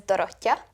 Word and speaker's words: Dorottya: In Hungarian, you would say it as Dorottya.